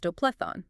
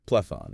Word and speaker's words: Plethon: Well, there's the curious revival of Platonism in 15th century Florence, led by Plethoon. Plethon, okay. His name is phonetically quite similar to Plato, and also to Plotinus, the Neoplatonist philosopher.